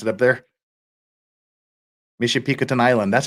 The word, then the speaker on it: Michipicoten: Anderson before changing to a southeasterly course towards Michipicoten Island. Hope that's how you guys pronounce it up there. Michipicoten Island.